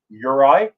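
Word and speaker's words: Juraj: I'm going to pronounce it for you. Uri. So just say Uri.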